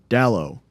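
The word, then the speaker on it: Dalot: boy what's his name Dow he's named after a soccer player uh it's spelled D A L O T so the t is silent uh it's a it's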